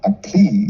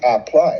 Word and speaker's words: apply: It's not apply. Oh, right. Okay. It's apply. It's 2 syllables. The first syllable is app, and the second syllable is ply.